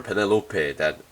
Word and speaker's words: Penelope: High Grade Universal Century Penelope or Penelope, the way how Korea and Japan pronounces it, as far as I know.